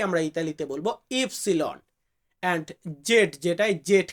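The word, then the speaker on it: ipsilon: যে কারণে এটাকে আমরা অনেক ক্ষেত্রে দাব ভি উচ্চারণ করি এরপর আছে কি এক্স আমরা এক্স বলি এটাকে আমরা ইতালিতে বলি ইক্স ইফসিলন ইফসিলন মানে হচ্ছে ওয়াই ওয়াই কে আমরা ইতালিতে বলবো ইফসিলন এন্ড জেড যেটাই জেড কে আমরা ইতালিতে বলবো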